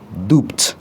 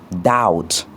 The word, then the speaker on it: doubt: On ne dit pas dop mais on dit doubt pour dire le doute.